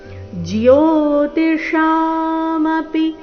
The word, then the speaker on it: ಜ್ಯೋತಿಷಾಮಪಿ: ಜ್ಞಾನಗಮ್ಯಂ ಹೃದಿ ಸರ್ವಸ್ಯ ವಿಷ್ಠಿತಂ ಜ್ಯೋತಿಶಾಮಪಿ ಜ್ಯೋತಿ ಇಲ್ಲಿ ಜ್ಯೋತಿ ಅಂತ ಇಲ್ಲ ಏನಿದೆ ಅರ್ಧಜ ಪೂರ್ತಿ ಜಿಯೋತ ಶಾ ಶ ದೀರ್ಘ ಶಾ ಮಮಪಿ ಮಪಿ ರಸ್ವ ಜಿಯೋತಿ ಶಾಮಪಿ ತಜ್ಜಿಯೋತಿಸ್ ತ ನಂತರ ಅರ್ಧ